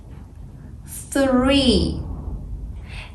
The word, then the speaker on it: three: In English, TH has two sounds. The first one is quiet th, like think, thank, thriː.